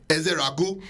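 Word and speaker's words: Ezeiruaku: Donovan Easy from um let me say it in a Nigerian accent. Ezrau. Yes, the cuz my cousin was mad that I didn't that didn't pronounce ebuka.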